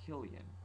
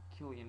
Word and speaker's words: Killian: It's not pronounced Cillian, it's pronounced Killian. Killian Murphy.